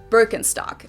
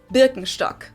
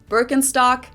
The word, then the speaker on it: Birkenstock: the world nowadays, and it's natural that people pronounce it with their native accent, so English speakers usually say Birkenstock. In German we say Birkenstock. Birkenstock, Birkenstock, which literally translates to birch stick.